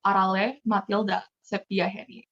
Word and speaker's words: Arale Mathilda Septiaheny: The way I would pronounce it is Arale Mathilda Septiaheny.